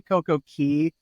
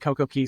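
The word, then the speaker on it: CocoCay: and just a just a note we say CoCo Key because right when we started saying Coco k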